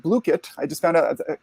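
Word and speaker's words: Blooket: So there's another tool called Bluekit.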